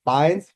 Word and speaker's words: Fiennes: Um, Ralph Fiennes, Fiennes, I don't know how to pronounce Fines. his name. Fiennes, perfect.